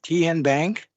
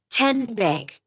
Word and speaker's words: TN Bank: TN Bank? Nope. Tin Bank? Uh-uh. So, what is it? Ten Bank. 10 as in Tennessee.